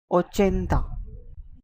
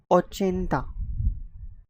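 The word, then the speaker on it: ochenta: 80 is called as oenda. Oenta.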